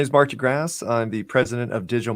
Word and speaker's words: de Grasse: I said that right, de Grasse? I should actually make Yes, you sure I did.